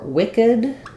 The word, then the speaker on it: wicked: will say that but we do have for Wicked um that one is two syllables Wicked um and you're